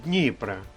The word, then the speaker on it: Дніпра: найбільшої річки України Дніпра наголос на першому складі Дніпра як на мене то